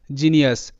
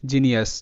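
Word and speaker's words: genius: হচ্ছে ginger, G আই এন জিন, জি ই আর যার, ginger, ginger, জিনিয়াস, G easy N আই ইউ এস জিনিয়াস। তো এখানেও কিন্তু জি এর উচ্চারণটা বর্গীয় জ এর মতো।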